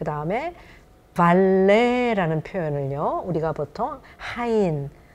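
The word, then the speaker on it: valet: 근데 발레트 아니면 발렛이라고 받침을 써서 흔히 한국에서 표현하는 거는 조금 잘못된 거라고 프랑스 발음에 그런 일을 하는 서비스를 제공하는 사람 얘기를 할 때는 발레 해야 되고 또 V 발음을 굳이 안 한다면 그냥 발레 해야지 발음 발레트라든가 발렛 하면은 틀렸다는 거 이게 말씀드리겠습니다.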